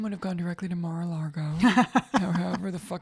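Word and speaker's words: Mar-a-Lago: region no mine would have gone directly to marago or however the it's pronounced maral Lago Mar Mar it's like rural jurer a 30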